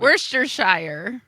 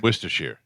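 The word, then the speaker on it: Worcestershire: They say the key is to drop the first R and soften the C E.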